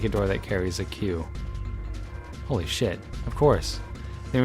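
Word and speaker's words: 九: I said, welcome to QQQ? That's because the number 9 in Japanese is pronounced Q. Like the letter Q.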